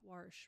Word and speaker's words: Warsh: Warsh, right? Like, I'm going to wash the dishes? I think so. Okay. Yeah, just yesterday the Senate confirmed Kevin Warsh as the new Fed chair. Kevin Warsh.